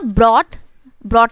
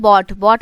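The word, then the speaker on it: bought: Radha ब्रॉट नहीं पढ़ते, इसको बोलते हैं बॉट मतलब होता है खरीदना। ये आर जो है ना ये साइलेंट होता है, ठीक है।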